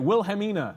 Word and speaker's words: Wilhelmina: Wilhelmina, right?